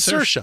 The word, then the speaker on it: Saoirse: No, It is Saoirse. It's You Saoirse. pronounce it like inertia, and she told us how to pronounce it like inertia on SNL when she was the host.